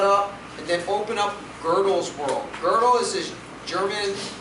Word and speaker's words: Gödel: It's spelled G-O-D-E-L, but there's an umlaut on the O. It's like Gödel.